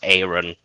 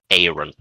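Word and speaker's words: Aerion: buildup uh well the aftermath of uh Prince Aaron. I think it's Aaron. I can't remember his pronunciation of his name.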